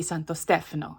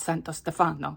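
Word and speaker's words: Santo Stefano: you know that um I I mispronounce um Santos Stephano. It's it's supposed to be Santos Stephano, not Santos Stefano. I put the empasis on the wrong salable through the entire time I talk about this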